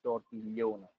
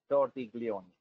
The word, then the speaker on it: Tortiglione: Unfortunately, the GL is only, an Italian special spelling. So the right spelling is Tortiglione, but GL is worldwide pronounced as GL. So yes, that's good. Tortiglione, no problem.